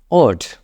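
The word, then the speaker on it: what: তো আপনি ওঠ বলেন ব্রিটিশ অনুযায়ী আপনি ওঠ উচ্চারণ করেন এটা ভালো হবে আপনাদের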